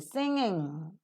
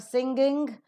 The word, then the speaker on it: singing: English words so s-i-n-g-i-n-g singing so it's not singing it is singing end with um sound and similarly in the